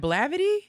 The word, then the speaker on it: Blavity: ooh the griot and blavity is that how you pronounce it i've always wondered you pronounced it correctly gravity yo those are